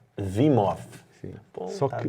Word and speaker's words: Wim Hof: Em Portugal se fala Wim Hof. No Brasil nós pronunciamos o H, então falaremos Wim Hof, Exato. é o que seja, né? Se você não conhece. E supostamente em holandês deveríamos dizer Wim Hof.